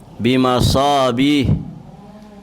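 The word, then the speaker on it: بمصابيح: Itu soknya harusnya panjang ya. Ayat ke-12, bimasabih, itu sodnya harusnya panjang.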